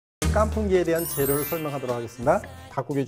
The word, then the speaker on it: 깐풍: 그래서 깐이라는 것은 마를 건자에 깐 발음을 하는 거고요. 풍이라는 것은 토사구팽 할 때 그 팽자를 풍으로 발음합니다.